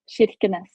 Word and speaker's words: Kirkenes: So Molde, Norway, you're Norwegian, but your hometown, your birthplace, can you repronounce that city for me? Kirkenes.